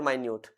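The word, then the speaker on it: minute: Close भी हो सकता है, मिनट भी हो सकता है, और माइन्यूट, मिनट का दो प्रोनाउंसिएशन बन गए ना, मिनट और माइन्यूट।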